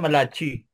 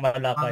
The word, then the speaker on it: Malachi: Ang basa ko ditoan malachi. Hindi ko binabasang malakay. Malakay.